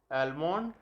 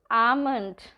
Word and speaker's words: almond: सिनोनियम, synonym, synonym, एंटोनियम, एंटोनिम, एंटोनिम, ऑफ्टन, ऑफन, ऑफन, data, data, data, pronunciation, pronunciation, pronunciation, अवर, R, एंड, aunt, aunt, एलमोंड, almond, almond, coupon, coupon, coupon, schedule, schedule, schedule, poem,